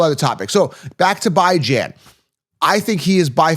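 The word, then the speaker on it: Bijan: It is by Jan. By as in bi-weekly, bi-weekly. Ran Jan. Ran as in tan as in fan as in man.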